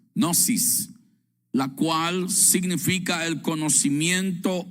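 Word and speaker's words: γνῶσις: se eh deletrea eh o se pronuncia nosis, nosis, la cual significa el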